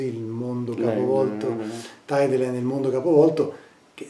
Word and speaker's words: Tideland: Penso ad esempio a Tideland, si pronuncia così, il mondo capovolto. Tideline, nel mondo capovolto, che